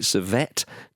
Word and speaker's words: Servette: Servette. It's the French part of Switzerland, I think. So it's Servette.